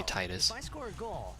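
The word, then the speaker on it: Tidus: His name is technically Titus, by the way. As in tedious. Nothing to worry about. That is the actual pronunciation of it. Most people say Titus.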